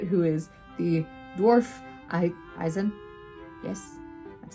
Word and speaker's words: Eisen: Stark into it who is the dwarf I eizen yes that's how we say his name Eisen um but is in the dwarf Warriors Apprentice